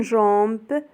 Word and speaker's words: jambe: J avec on se prononce Jean comme une jambe.